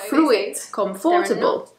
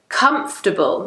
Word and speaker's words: comfortable: would you say it it's not who is comfortable but really it's comfortable comfortable so it's not comfortable